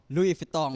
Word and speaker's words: Louis Vuitton: cara bacanya Louis Vuitton. Louis Vuitton.